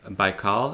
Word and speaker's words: Baikal: And some of your more contemporary works, I know you said in the live chat that the composer for the piece Lake Baikal, is that how you say it?